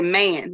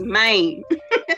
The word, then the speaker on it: Mane: like what man or they say man when they say it back no it's maine and it ain't spelled like main street either sometimes your response